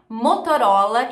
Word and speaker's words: Motorola: Motorola em inglês então Lembra que eu falei que muitas vezes quando a gente tem a letra t no meio da palavra ela vira um R Então em vez de você falar montão rola você fala OK marcas de roupa agora